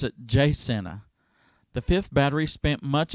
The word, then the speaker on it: Jacinto: of san jacinto in texas but the locals pronounce it jsenna the fifth battery spent much of the summer